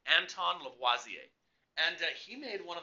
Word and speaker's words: Lavoisier: to pronounce it right but he was French so you got a foot kind of the French sounding to it so it's Anton Lavoie ze and he made one